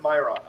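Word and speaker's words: Majorana: I I pronounce it Myana.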